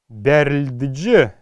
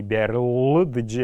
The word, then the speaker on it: берльдж: Гар берльдж, берльдж. Л мы знаем, что будет, так как слово мягкорядное и имеет шиктаюгу, то Л будет произноситься не берлдж, а берльдж.